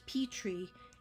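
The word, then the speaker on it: Pitre: got claudina and then I just got Claudine pet tree p i t r e it's pronounced pet tree and that's because um somebody that knows her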